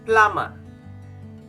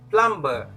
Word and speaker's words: plumber: to the number nine to pronounce this word i want you to silent the letter b okay if you silent the letter b you can pronounce the word correctly so it's going to be plummer plummer most people will say plumber it's wrong okay the last word